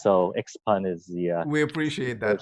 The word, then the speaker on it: Xpeng: Well, it's called Xpeng in English. Xpeng. Okay, and in Chinese, it's called Xiaopeng, but it's a little too difficult for foreigners to pronounce. So Xpeng is the...